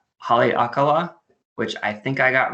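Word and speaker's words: Haleakalā: It has the largest dormant volcano crater in the world, which I will try to pronounce, Haleakala, which I think I got right.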